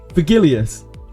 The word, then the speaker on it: Virgilius: Virgilius. Like Virgil. It is a soft G.